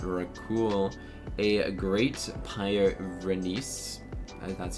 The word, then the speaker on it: Pyrenees: A great pyrenees. That's how you pronounce it.